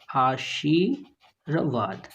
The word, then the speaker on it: आशीर्वाद: तो ये शब्द बनेगा आशीर्वाद, क्योंकि जो रा का उच्चारण होता है जिस वर्ण पे चढ़ता है उसके पहले होता है।